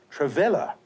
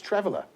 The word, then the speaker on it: traveller: As it is spelt here, it should be pronounced traveller, but it's not. It's traveller.